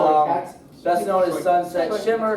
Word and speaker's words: Shoichet: It's pronounced Shoichet.